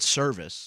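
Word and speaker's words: Servais: I've heard it pronounced Ed Service. Service, okay. Like service. Just service.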